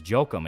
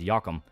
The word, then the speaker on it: Jokum: And yeah, no, it's because J in German is Y.